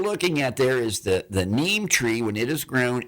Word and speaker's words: neem: But what you're looking at there is the neem tree.